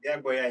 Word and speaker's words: Diagboya: So Diagboya is the surname.